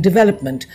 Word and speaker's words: development: in a formal setting stress on the velop in development the emphasis in theologies is